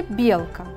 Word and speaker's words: белка: Например, в слове «белка» ударение падает на первый слог, значит, слог «бел» является ударным, а слог «к» является безударным. В слове «кубики» первый слог является ударным, слог «ку», а слоги «би» и «ки» являются безударными.